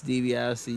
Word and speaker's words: DiBiase: Dan, it's DiBiase. You got the name wrong, silly.